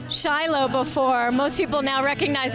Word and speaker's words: Shiloh: a boutique Winery here in Israel it's actually pronounced chilo there's over 250 Boutique wineries here let's hear about this one the Winer exist from 2005 it's in it's located in chilo inside the most of The Vineyards are belong